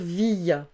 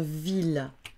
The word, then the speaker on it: ville: On va avoir des mots comme ville, on va pas dire ville, on va dire ville.